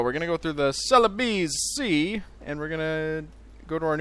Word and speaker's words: Celebes: then this peninsula of Celebes here. So that's the plan, or Celebes. That's what it's pronounced as.